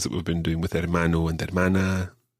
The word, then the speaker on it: hermano: my father would be hermano me hermano now what's that although it starts with an h you don't pronounce the h the h is always